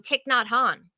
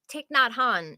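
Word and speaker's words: Thich Nhat Hanh: it's been a it's been a bit um tick not Han tick not Han which is th h i c because it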